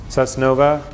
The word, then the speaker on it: Susnova: Susnova, limited to 3 syllables that are easily pronounced, and Susnova comes from sustainable innovation.